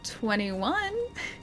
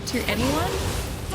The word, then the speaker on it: 2NE1: Oh, 21 is how they say it, okay, I got it right. Because I was like, it's either 2NE1 or 21, and I assumed that 21 was right.